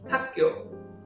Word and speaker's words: 학교: It's weird, but how to pronounce it is actually 학교, 학교.